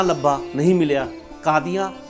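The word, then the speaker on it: काज़ी: हजूर य उच्चारण है इसी तरह काजी दा उच्चारण कादी है जे नहीं ता लिखन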